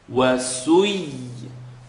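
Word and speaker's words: وسيرت: So you're going to take two sounds, wasu, yi, and then transition together. It's not heavy light, but it's just a heavy pull on the mouth. Wasui, wasui, wasuyiratil jibalu fakanat saraba.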